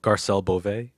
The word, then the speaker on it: Garcelle Beauvais: The download video with Fancy from Jamie Foxx show, Garcelle Beauvais. How you pronounce it? Oh, Garcelle Beauvais.